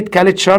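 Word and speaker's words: culture: هو اتصال او تواصل كلمه كالتشر برض تي يو هنا اهي بتتنق اش يبقى هنا اسمها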